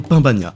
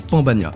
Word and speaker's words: pan bagnat: vous allez me répondre pain bania et ben non perdu ça se prononce pan bania parce que ça s'écrit pan P a n comme Peter Pan et pourtant personne dit Peter pain mais bref on commence